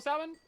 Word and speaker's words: salmon: So we're gonna sell salmon, and we're gonna sell it with an L because there's an L in there. If you don't want it to be pronounced with an L, then they should change how it's spelled.